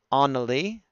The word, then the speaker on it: Annalie: Pronounced like Anna from Frozen. Oh, I see. Okay. So Lady Annalie. Annalie, which rhymes with Hanali, which is where Puff the Magic Dragon comes from.